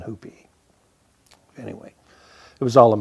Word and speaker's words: Hupe: of our last name because of the pronunciation hoopie anyway it was all